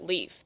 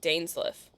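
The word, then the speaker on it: Dainsleif: mistaken oh you know they don't pronounce it Leaf they pronounce it danesliff interesting but I'm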